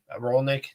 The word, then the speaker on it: Rolnick: Charlie Rolnick. Maybe I have the pronunciation wrong. Is that who it is? Yeah, Rolenc. Yeah, Rolnick. Yeah, he's going to West Point directly.